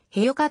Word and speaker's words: ヘヨカ: 姿で描かれるスー族の言葉ではへよかと発音する自らが悲しい時